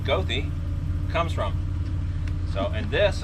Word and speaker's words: Goethe: hunting spell g-o-e-t-a-g um the way that they described it was say it southern uh not german it's a german name from german heritage uh and so but they said they pronounce it down here with southern so it's gothi go through y'all yeah